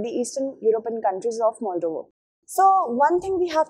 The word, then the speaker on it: Moldova: in the question so moldova or moldova it is actually moldova the correct pronunciation should be moldova okay on the completion